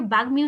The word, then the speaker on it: বাগ্মি: তবে কিছু কিছু শব্দ আছে যেখানে আমরা দুবার উচ্চারণ করব না, ওই মফলাটাকে উচ্চারণ করব। যেমন দেখো বাগ্মি, আমরা এটাকে বাগ্মি উচ্চারণ করি, আমরা বাগ্যি উচ্চারণ করি না।